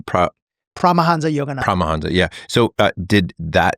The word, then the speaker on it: Paramahansa Yogananda: Did, how do you pronounce his name? Paramahansa Yogananda.